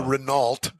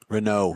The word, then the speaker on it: Renault: That's the Renault. Renault.